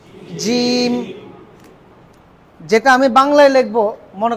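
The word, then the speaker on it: جيم: জিম, জিম। জয়ের উচ্চারণ শক্ত করবেন, জ আছে না জ, এই জয়ের উচ্চারণটাকেই মজবুত ভাবে জিমের উচ্চারণ হবে।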